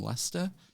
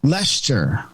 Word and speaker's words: Leicester: Just pronounce it like it's like Uncle Fester. Yeah. With an L.